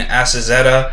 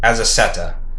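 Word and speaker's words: Azaceta: i know the kirkman is robert kirkman what is assassina's first name paul assassina azazetta sorry i think i was pronouncing that wrong as as as a setter as a seta yeah so this is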